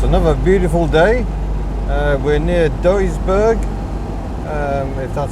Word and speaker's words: Duisburg: is amazing that's another beautiful day we're near Duisburg that's how you say it pay attention on